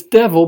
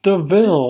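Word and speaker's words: de Vil: It's devil, but it's pronounced Deville.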